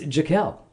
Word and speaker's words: Jaquelle: do I was the one who decided to spell it she named uh it's Jael that's right like Jackin just leave off the